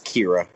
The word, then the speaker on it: Kira: It's Kira. Kira. But it's spelled how a Mexican would say it.